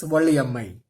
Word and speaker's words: Valli Ammai: The pronunciation is Valli Ammai.